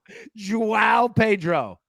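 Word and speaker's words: João Pedro: How do you pronounce the first name? Joao Pedro.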